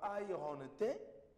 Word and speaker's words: iron: Donc ces mots-là, beaucoup de personnes commettent cette erreur de dire iron ou bien iron. Non. Iron. Donc le R n'est pas vraiment prononcé.